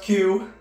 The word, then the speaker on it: Que: And while your name is pronounced Q, Q's name is spelled like the Spanish word K, meaning what?